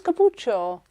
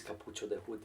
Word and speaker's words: cappuccio: No, I thought it was capucho. No, it is cappuccio.